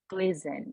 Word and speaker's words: glisten: Glisten.